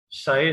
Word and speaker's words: psi: PSI, P silent है तो साई कहते हैं इसे.